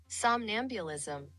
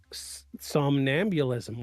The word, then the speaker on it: somnambulism: Give me I use Google Translate a lot to to to give me the pronunciation of things. Somnambulism. Somnambulism.